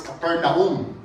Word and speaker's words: Capernaum: i would like to i know america is likely to perhaps it's capernaum but i would like to properly pronounce this as capernaum because the name of